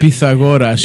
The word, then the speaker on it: Pythagoras: Is the correct Greek pronunciation the Pythagorean? Is it Pythagoras is how you say it.